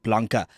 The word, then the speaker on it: Blanca: So, like Biana, but Blanca. Uh, so B L A N Ca.